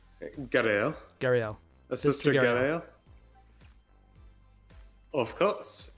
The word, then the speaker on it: Garaele: Garaele.